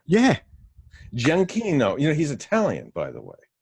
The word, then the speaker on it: Giacchino: I've never heard it pronounced. How? Oh, you just seen the name? Yeah. Giacchino.